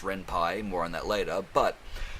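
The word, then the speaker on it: Ren'Py: the renpi engine which i was calling the renpe until i found out it's actually pronounced renpi more on that later but rempah is extremely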